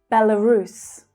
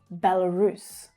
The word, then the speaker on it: Belarus: So starting with bel, we have bella. The middle syllable is unstressed and it reduces to become the schwa sound. L, bella, Belarus. So the main stress is on the final syllable.